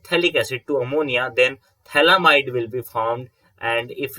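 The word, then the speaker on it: phthalimide: note this compound is known as thalamide okay ph is silent and thalamide and again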